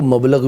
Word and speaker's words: مبلغ: مبلغ سکہ رائج الوقت, ہاں جی وہ مبلغ ہے, وہ مبلغ ہے, ٹھیک ہے, اس کا صحیح تلفظ مبلغ ہے.